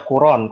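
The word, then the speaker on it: القرآن: Ya, bisa dibaca Quran. Kalau Quran tuh kiraatnya Ibnu Katsir.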